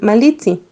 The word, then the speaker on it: Malintzin: Para agregar un título de respeto al nombre que pronunciaban Malina, decían Malitzi.